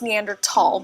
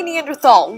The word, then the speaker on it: Neanderthal: Okay, so right off the bat, I've been told it's pronounced Neandertal, but others say Neanderthal. Which one is right?